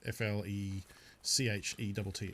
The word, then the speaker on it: flechette: If you look up flechette, F-L-E-C-H-E-T-T-E. I believe flechette is the correct way to pronounce it. I know some people call them flechettis.